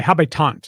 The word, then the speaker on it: habitant: Habs or the haves the habitant is the French pronunciation for the Habs oh so the habitant